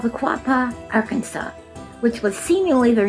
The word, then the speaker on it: Arkansas: We know Arkansas is pronounced Arkansas, but that wasn't always universally agreed upon. One senator preferred, All right, you ready for this? Our Kansas in the 1800s until a resolution was passed.